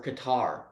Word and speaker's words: Qatar: If you don't, go hang out with Giselle and Cater. Or Qatar. I think it's Cater. I think it's how you pronounce it.